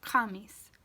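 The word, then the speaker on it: khamiis: For the KH sound, this one can be like a ka sound, like K-H-A-H, ka. An example of this would be kamis, and that means Thursday. Kamis.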